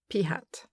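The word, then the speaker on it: p̂: of the letter so that the statistic is pronounced p hat.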